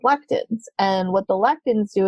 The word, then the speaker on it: lectin: pain because it's actually the i can never pronounce that word l-e-c-t-i-n lectin yeah so we'll just kind of do